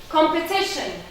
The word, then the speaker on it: competition: Competition. Competition. 4 syllables.